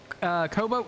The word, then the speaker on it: cobalt: I always say Cobalt, like Cobalt. like boat or bout, I guess. And I know that that's not how you say it, but my brain just can't say cobalt. It just doesn't sound right. I think it's a northern thing to drop the L there.